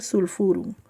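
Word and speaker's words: sulphurum: Se escribe sulpurum, pero se pronuncia sulfurum.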